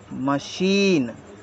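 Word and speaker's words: machine: सी एच आई एन ई इसको हम पढ़ेंगे मशीन जी के उच्चारण समझ लेते हैं जी जी को हम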